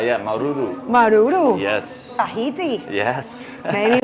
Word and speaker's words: Maruru: H yeah, Maruru.